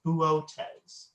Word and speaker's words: Boötes: I've heard people call it boots. Some people have told me booties. But I'm probably mispronouncing it. I believe the Greek pronunciation is Boötes.